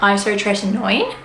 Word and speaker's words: isotretinoin: my experiences of accutane I think the correct pronunciation of the actual drug term is isotretinoin I'm currently on my last five days of